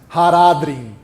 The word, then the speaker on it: Haradrim: Toda vez que alguém pronuncia uma palavra élfica como oxítona, morre um elfo da floresta, gente. Não façam isso, tá? Por favor. Ainur, Valar, Haradrim.